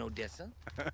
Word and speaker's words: Odessa: You know, what's in Odessa?